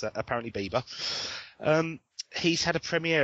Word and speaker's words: Bieber: teenage Idol called Justin Bieber um I was pronouncing it bber and it's apparently Bieber um he's had a premiere of one of